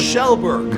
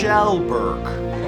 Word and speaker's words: Kjellberg: Kjellberg. No sir. Kjellberg. Kjellberg. Felix Kjellberg.